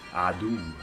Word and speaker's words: عدو: Now in Arabic, the word for enemy is pretty easy to pronounce. It's adu, adu, adu, adu, adui, my enemy, adui, enemy, adu al-insan, enemy of humanity.